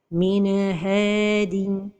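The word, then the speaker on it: مِنْ هَادٍ: Min hadin. La deuxième erreur, c'est de prolonger son temps. Min hadin. La troisième erreur, c'est la pause. Min hadin. Donc, la prononciation correcte est min hadin.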